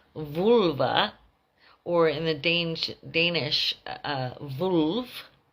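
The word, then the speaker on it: völva: So vølva, pronounced in the Old Norse as vølva, or in the Danish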